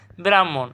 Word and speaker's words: ব্রাহ্মণ: ওখানে হসন্ত দিয়ে দিবা ব্রাহ্মণ এখানে ব্রাহমণ সঠিক উত্তর কি হবে